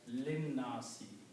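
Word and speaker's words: النَّاسِ: Okay, and when you read together, you combine with the noon and you read lin nasi. You do not pronounce alif here. It becomes lin nasi. It is not even written, the alif is not written.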